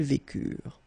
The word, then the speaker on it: vécurent: Ils vécurent, so remember, mark for the plural, and T is not pronounced phonetically, you don't get it, so vécurent. Okay, ils vécurent, and then elles vécurent.